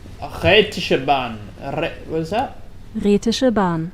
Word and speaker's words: Rätische Bahn: How's that meant to be pronounced? How is this pronounced? Rätische Bahn. Rätische Bahn.